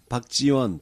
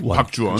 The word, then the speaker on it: 박주원: 근데 발음을 잘해야 돼. 네. 박지원, 박주원. 박주원.